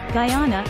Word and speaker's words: Guyana: was changed to Guyana and began to be pronounced Guyana land of many Waters 16 the history of